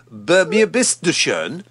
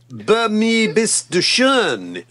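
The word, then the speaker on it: Bei mir bist du schön: Your pronunciation. Be a Miss de Schön? Be a Miss de Schön? Sounds like you're being played backwards. You're making me choke now. Be mir bist du schön.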